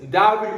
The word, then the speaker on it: は: A は B です。And the pronouns of this は is WA.